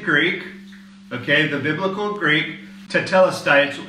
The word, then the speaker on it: tetelestai: 30, "it is finished" is all one word, tetelestai. Now, obviously, I'm probably not saying it correctly for those of you Greek speakers here in Cyprus, okay? But this is the ancient Greek, okay, the biblical Greek, tetelestai.